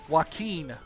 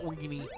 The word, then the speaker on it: Joaquin: Joaquin Phoenix. I thought that's how I pronounce it, but I tried to say it the other way because I've heard people say it, but Weenie. No, it's not Weenie.